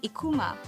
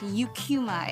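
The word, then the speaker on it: Eucheuma: pronounce the name of the seaweed species as Ikuma. The scientific name is pronounced Eucuma in English.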